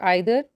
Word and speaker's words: either: There are three distributive pronouns: each, either or either, neither or neither. Both the pronunciations are correct.